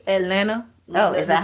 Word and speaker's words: Atlanta: I gotta say Atlanta. Oh, is that how they say it? There's no T. Yeah. Not at Atlanta. Yeah, it's Atlanta. Okay. No T's at all.